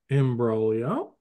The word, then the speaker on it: imbroglio: Imbroglio is... It's Italian. That so way, there's a G yes. in there. Silent G.